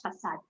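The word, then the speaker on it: façade: right so so so this axon mark helps you to pronounce it as facade right for the same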